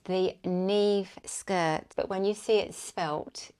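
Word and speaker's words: Niamh: it wrong it's the Neeve skirt but when you see it spelt it's an Irish name and it's spelled differently to how it's actually written and I had to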